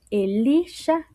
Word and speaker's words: Elisha: Eh, todas estas letras conforman a Elisha, que es Eliseo.